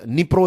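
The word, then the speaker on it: Dnipro: देख रहे हैं राइट निप्रो इसको कहते हैं राइट डी से इसकी शुरुआत होती है स्पेलिंग की लेकिन प्रोनाउंस है नीपोते नीपोल जो है तो उसके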